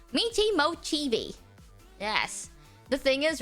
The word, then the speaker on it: Michi Mochievee: I am wondering how you pronounce Mochievee. How to Michi Mochievee. That's how you say it. It's Michi Mochievee.